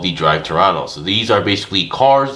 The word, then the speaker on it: Pterano: So this is the Beastdrive Drive Pterano. I'm assuming that's a silent P over there, from 5-2 Toys.